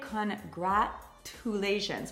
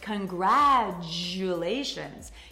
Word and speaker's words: congratulations: First, in American English, we don't pronounce the T. We do not say congratulations. We say congratulations.